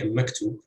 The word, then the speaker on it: maktub: Or you would say maktub. You would have two heavy syllables, but stress would fall on the second syllable in this case.